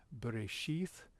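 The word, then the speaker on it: בראשית: So bereshith, that little line there, besides the da, there's the sheath, I said the little dot underneath and the yod together is a long I sound, so that's eth, and under the two dots under the r, the resh, that's that long e sound is in they, resh, and the b,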